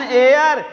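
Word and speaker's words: heir: ई आई आर, ऐन एयर। ये भैया कहबा कहाँ से का यच लगा मत हायर हो चाहिए एयर, कैसे हो गया? नहीं, यहाँ यच पे यच जो है हमारा साइलेंट है।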